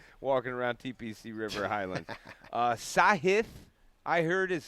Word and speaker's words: Sahith: Sahith, I heard is how you say it now.